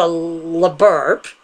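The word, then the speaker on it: LBRP: Because, let's be honest, only the LaBurp, which is the proper way to say that, counts in Golden Dawn.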